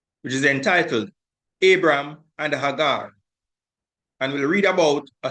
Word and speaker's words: Hagar: an handmaid, an Egyptian, whose name was Hagar, and that's the correct pronunciation. We are used to saying Hagar, but the correct pronunciation is Hagar.